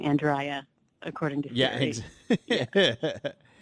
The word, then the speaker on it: Andrya: and also just for clarification, it's Andrya. It is, yeah, Andrya. Okay. Not Andrea or Andrea, but I'll respond right.